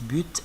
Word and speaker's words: but: normalement on dit le but d'accord le TER français à la fin ne se prononce pas mais beaucoup de gens prononcent but et moi j'ai l'habitude